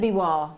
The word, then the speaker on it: Biwa: Very, very famous indeed to get that gorgeous biwa pearl. Absolutely, poor Laura Barney can't say biwa. She goes, I don't know what to say. Say beware and then biwa.